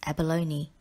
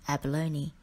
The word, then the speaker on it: abalone: of the earth climate word number 15 is abalone and abalone is a type of shellfish that